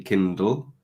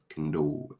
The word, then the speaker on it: Kindle: end of a word you're pronouncing it like a w instead of like an L which is also quite typical of um Chinese students so when it should be Kindle you're thinking you're making